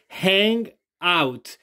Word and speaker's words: hangout: dgan Ustedes muy bien hang out y la pronunciamos corrida hang out est suena como e es la única diferencia y Recuerden que la H al principio suena como nuestra J hangout ahora díganlo Ustedes